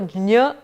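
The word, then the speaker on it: ज्ञ: my logic is that it is a combination of j and nya, and therefore jnya, you go over the j really fast, jnya would be the more accurate pronunciation of this letter.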